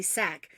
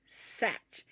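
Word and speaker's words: Sach: it's so funny because nobody knows how to pronounce my last name because it's s-a-c-h and everybody always calls me sack when we lived in germany i always got called sock i thought it was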